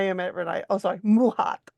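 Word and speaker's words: Maat: every I oh sorry muh was is how it's pronounced okay m a a t is muh M hly I don't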